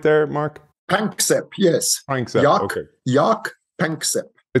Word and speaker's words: Panksepp: And of course, heavily influenced by your friend and colleague Jack Pransep as well. Is that, do I say his name right there, Mark? Panksepp, yes.